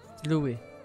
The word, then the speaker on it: Louis: Louis, not Louis. I keep pronouncing his name wrong.